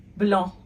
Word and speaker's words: blanc: Masculine form, blanc. Blanc. Feminine form, blanche. Blanche. Now, did it change in how it sounds when it went from the masculine to feminine form? It sure did. Blanc, blanche. So there you go.